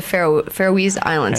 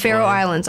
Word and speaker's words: Faroe Islands: And you've had, you know, I don't know anyone else who's been to the Faroese Islands. Yeah. Is that how you say it? Faroe Islands? Faroe Islands. Yeah.